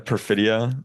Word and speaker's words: Perfidia: Um yeah, Perfida. Perfidia.